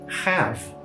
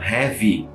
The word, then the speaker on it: have: Outra delas é a palavra have. Have, o nosso verbo ter, no sentido de posse, né? No sentido de possuir algo, né? Have tem um "é" também no final. E eu sei, muitas pessoas falam heavy. Heavy, na verdade, é uma outra palavra. Uma outra palavra, quer dizer pesado.